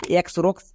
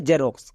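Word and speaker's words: Xerox: জেরক্স একে আমরা এক্ষুনি এক্স রক্স বলে জানতাম বাট আজকের পর থেকে একে আমরা সঠিক উচ্চারণ করব এর উচ্চারণ হবে জেরক্স কেন কারণ শব্দের শুরুতে এক্স আছে তাই এক্স এর জন্য কি হবে বর্গীয়জ তাই এক্স এর জন্য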